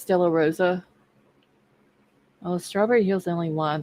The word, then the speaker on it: Stella Rosa: see I moved on the Stella Rose it's Stella Rosa oh strawberry Hill's only